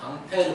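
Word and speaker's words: Ampère: 볼테이지는 사람 이름이고 페어도 프랑스 사람인데 프랑스식으로 이걸 읽게 되면 어떻게 되면 앙페르 됩니다 앙페르 프러 식 바로 가면 앙페르 이렇게 돼요 근데 영어식 발음으로 읽으면 안 패요 그래서 뭐 앙페르의 오른나사 법칙 뭐 이런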